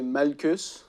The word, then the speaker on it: Malchus: C'est Malchus. Ah ouais? Ça se prononce, c'est Malchus.